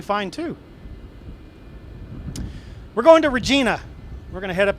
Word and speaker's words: Regina: Regina, oh my God. What rhymes with vagina? Regina.